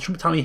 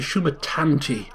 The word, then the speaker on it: Shumatanti: Shumatani or whatever, the Shumatani Hills or something. It's actually Shumatanti. There's a T in there.